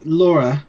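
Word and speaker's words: Lore: I'll go on to Laura or it's spelled l o r e but it's German it's it's Laura because it's the name of this the main character of the movie um it's directed by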